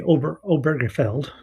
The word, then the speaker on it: Obergefell: Um, and so the focus today will be the Obergefell. There's an extra syllable in there that I always miss.